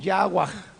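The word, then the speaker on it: חַוָּה: nombre de eva ahora eva en el hebreo se pronuncia de manera muy diferente algo así como agua esa es la pronunciación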